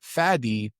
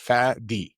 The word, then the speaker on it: Fady: Fady in Arabic, it's two syllables. Fadi. It's a clear D, not a T. It's a D at the end. Fadi. It's a beautiful name.